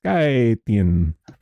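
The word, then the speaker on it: Scythian: Okay. Cythian. Cythian. Cythian. Okay, that makes sense. Cythian. Baporan says skyion.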